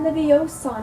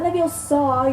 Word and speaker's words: Leviosa: It's Wingardium Leviosa, not Leviosa. You're saying it wrong.